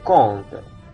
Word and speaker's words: compte: Kemudian yang OM juga itu dia dibaca on compte, hitungan atau rekening. Jadi ini compte ini bisa berarti compte,